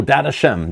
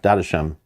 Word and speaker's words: Dadachaem: see I don't know I don't know oh data Shem that's it sorry raw I knew somebody knew the pronunciation I forgot what it was yeah data Shem in the tutorial video yeah I don't remember